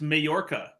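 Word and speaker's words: Mallorca: you Jamaica yeah I'm I'm in it's actually pronounced mayorca mayorca gotcha no no I'm in Utah uh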